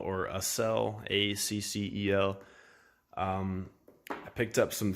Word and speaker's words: Accel: At the time that I got the new engine, that summer I picked up some, I think it's pronounced Accel or Accel, A-C-C-E-L.